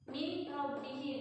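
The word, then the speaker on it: من ربهم: Min rabbihim. Dibacanya kalau idgham itu huruf pertamanya lembur, berarti nunnya jangan dibaca. Terus huruf keduanya itu muncul tasydid. Nunnya lembur, yang keduanya muncul tasydid.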